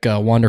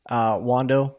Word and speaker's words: Wander: we should be betting Wander Franco. It depends on your pronunciation of Spanish, because it's he's from a Spanish-speaking country, so the A sound makes an A sound, so it should be Wander Franco.